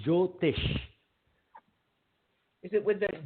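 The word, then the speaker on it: Jyotish: I I I think I heard you saying jotish is it with the j joish j j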